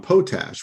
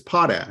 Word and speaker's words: Potash: night group where uh Alan was pronouncing me potash which is not the pronunciation it's potash no yeah and and